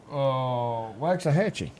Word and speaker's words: Waxahachie: How do you pronounce this? How do you say that Texas town? Waxahachie.